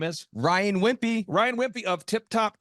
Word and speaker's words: Wimpey: Ryan Wimpy. Ryan Wimpy of Tip Top Canine. How do you spell it?